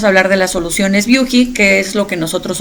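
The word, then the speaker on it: Büchi: Como ya me escucharon, nosotros lo pronunciamos como Viuji porque esa es la pronunciación suizo-alemana. Pero la verdad es que en Latinoamérica nos dicen de diferentes formas. Buchi es creo que el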